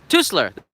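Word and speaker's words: Teusler: Japanese here twisted aa to slur to slur that's how you pronounce it so to slur didn't come to dr.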